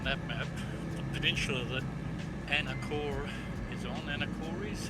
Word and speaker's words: Anacortes: So if you've got the map on the little nav map, the peninsula that Anacortes is on, Anacortes, how do you pronounce that? Anacortes? Anacortes.